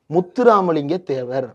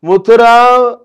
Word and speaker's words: முத்துராமலிங்க தேவர்: முத்துராமலிங்க தேவர். இது வந்து நவுன். இதை உச்சரிக்க தெரியணும்ல. முத்து common name. Ram common name. லிங்கம் காமன் நேம். முத்துராம் லிங்கம்னாவது சொல்லி இருக்கலாம். முத்துராம் முடியல.